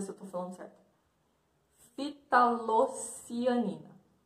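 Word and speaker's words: ftalocianina: Fitalocianina. Fitalocianina. Memorizem aí. Fitalocianina. O F é mudo.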